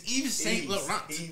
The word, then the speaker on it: Yves Saint Laurent: It's Yves Saint Laurent.